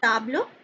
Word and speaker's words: table: is table in french it is written as same in english but it is pronounced as table so this is again